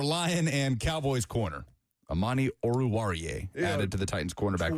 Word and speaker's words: Oruwariye: Amani Oruwari. I'm sure that's not how I pronounce it. Oruwari? You're embarrassing yourself. Am I? Go ahead. You are traditionally terrible at pronouncing names. Oruwariye. Amani Oruwariye.